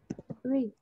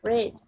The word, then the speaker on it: read: This is the best book I have read. Yeah, I've read. Vẫn giữ nguyên đúng không? Mình sẽ đọc là read chứ không phải là read.